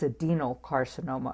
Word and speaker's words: adenocarcinoma: What had happened here was his lung cancer is adenocarcinoma of the lungs, not adrenal. I put an R in it.